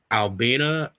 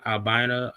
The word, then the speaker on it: Albina: Um it's a neighborhood known as Albena. I might be saying it wrong. Albina. Albina. But the uh the neighborhood,